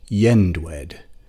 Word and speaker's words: YNDRD: They're startled to receive a message via the computer from an inhabitant of the Planiverse, who calls himself YNDRD, pronounced by the students as Yendwed, Dewdney, spelled backwards.